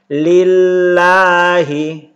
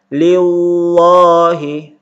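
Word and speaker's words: لله: kemudian di kolom ini ketika lafaz Allah sebelumnya berbaris kasrah atau berbaris bawah maka dibaca tarqiq atau dibaca tipis lillahi Jangan dibaca Leo high tapi dibaca tipis lillahi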